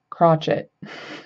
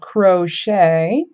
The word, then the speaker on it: crochet: So when you say crochet correctly, not like crotchet, which I have heard some friends say, um, that ch at the end is pronounced shay. So crochet.